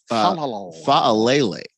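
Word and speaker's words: Faalele: Daniel, is that how you say his name? Fa'alele, I believe is how you say it.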